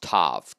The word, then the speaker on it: tav: That word mark in the Hebrew is tav. T-A-W, pronounced tav, T-A-V.